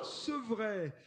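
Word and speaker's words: Sepvret: Sevray, le nom de la commune s'écrit S-E-P-V-R-E-T, Sevray, dans les Deux-Sèvres, à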